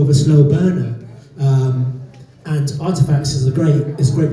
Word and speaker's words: RTFKT: There is Artifacts, which is spelled RTFKT.